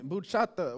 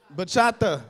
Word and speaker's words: bachata: about i don't even bucha what bachata i said it wrong bachata see you know i